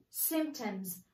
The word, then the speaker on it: symptom: person might experience symptoms we don't pronounce p listen american accent symptom we don't pronounce p